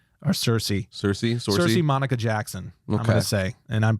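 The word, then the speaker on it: Saoirse: think it's sorcy or cersei cersei cersei monica jackson i'm gonna say and i apologize if i'm mispronouncing that it's irish clearly s-a-o-i-r-s so i think it's cersei uh but it's i'm probably wrong uh but she is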